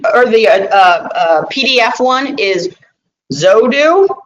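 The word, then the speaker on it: Xodo: The Adobe or the PDF one is Zodo, I think is how you say it.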